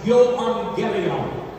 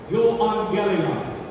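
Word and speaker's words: εὐαγγέλιον: I think that most of you know that the New Testament was written in Greek originally, and in the Greek, the words "the gospel" is pronounced euangelion, euangelion.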